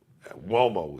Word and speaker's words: Uomo: But Uomo is spelled with a UO, but it's got the W sound.